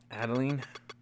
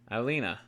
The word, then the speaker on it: Adelina: Adeline? Adelina. Have I been saying her name wrong? Adelina. I've been saying Adeline.